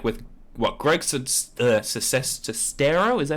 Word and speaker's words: Sestero: your experience with this, like with what Greg Sestero, is that how you say his name? Of the Room. Sestero.